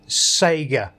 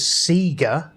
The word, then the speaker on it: Sega: into is the name it is actually Savior and this is the first time that everyone in the playground that had people pronouncing it wrong as Seger for some reason I don't worries maybe it was just my school but I still see but I still hear people now call it Seger there's no excuse for